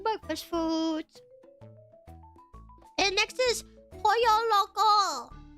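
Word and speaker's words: El Pollo Loco: foods and next is po Loco that's how you say it right cuz last time I said the name of this restaurant I said Polo Loco and everyone laughed at me I don't really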